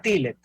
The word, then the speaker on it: Tillet: Siempre le pronuncio mal tu apellido. Es un tema con No, sí, se pronuncia Tillet.